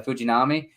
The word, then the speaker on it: Shintaro Fujinami: Ottavino, but there are some other guys like Shintaro Fujinami. Is that how you pronounce his name? Yeah, the Japanese guy was with the Orioles. Yeah, Fujinami.